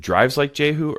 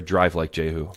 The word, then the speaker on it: Drive Like Jehu: Is it Drives Like Jehu or Drive Like Jehu? Drive. There's no Drive O's.